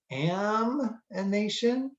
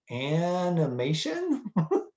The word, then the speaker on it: amination: It's called reductive amination, not to be confused with animation, making cartoons, animating something. No, we're aminating. Did I say it wrong? Animation. It's making Bugs Bunny here. Amination is where you're making amines.